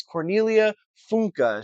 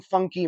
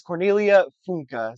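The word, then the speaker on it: Cornelia Funke: Spell by I finally looked up how to pronounce her name. It is Cornelia Funka. She is German. I've been saying funky my entire life. So, like 25 years now I've been saying funky. It is Cornelia Funka.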